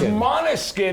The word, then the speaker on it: Måneskin: No one can So it's Måneskin because Måneskin.